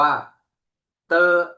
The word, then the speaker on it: d: ครับ อีก 4 ตัว ดี นะ ครับ เรา ออก เสียง เป็น เตอ นะ ครับ เป็น เสียง ต เต่า นะ ครับ เตอ ส่วน ตัว t ครับ